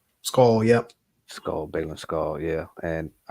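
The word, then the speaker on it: Skoll: Skull, yep.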